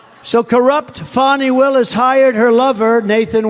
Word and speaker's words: Fani: fonnie well it's now even though it's I believe it's spelled f ni I to my way of thinking that's Fanny but once she became the district attorney I think she put a little emphasis on the U fonnie so corrupt fonnie Willis